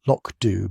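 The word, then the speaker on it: Lochdubh: Police constable Hamish McBth stood at the window of his kitchen in the police station at Lochdu, pronounced Loachd by those who knew better than to anglicize everything Scottish and watched the downpour turn the surrounding moors into a landscape of gray misery.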